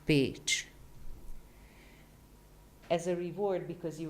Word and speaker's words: Pécs: CS in Hungarian, interestingly enough, can be one letter. And it's pronounced like in beach. So it's pronounced Pécs.